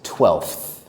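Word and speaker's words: twelfth: That word is 12th. It is hard because we have an F sound that is immediately followed by a TH sound.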